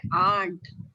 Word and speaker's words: aunt: में ए बोलते हैं और आंट में आंट बोलते हैं, एंट नहीं बोलते हैं। एंट बोल देंगे तो एंट हो जाएगा, ए एन टी एंट, और आंट AUNT आंट हो जाता है।